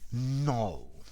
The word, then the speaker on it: knoll: hi there students a no no so the k is silent countable noun a grassy knoll okay a no is